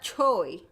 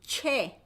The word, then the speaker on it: 최: It's not Choi. They Romanized it. This is why I don't like romanization. Because it's O plus E, right? That's why Choi. But the sound is 왜. So it should be che.